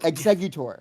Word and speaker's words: Exeggutor: Exeggutor. I think that's wrong. I think it's uh exeutor. Executor. Exeutor. Exe. Exeutor. It's literally exe, right? Exeutor. It's not E G.